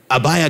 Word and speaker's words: Abijah: gave birth to Abiah, that is spelled Abijah in your Bible, but he's actually Abiah because that J is like hallelujah J, it's a Y.